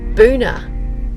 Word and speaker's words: Boona: We are still in the Scenic Rim, as you know, and we've headed to Boona today. And you have to really pronounce Boona properly.